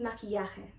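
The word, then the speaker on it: maquillaje: word in spanish is makiyake i like it because it includes some pronunciation rules of the spanish language such as ke ya and so it's a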